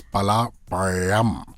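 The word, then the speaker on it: பலாப்பழம்: And she says, no, it's pala payam, pala payam. You have to roll the yeah.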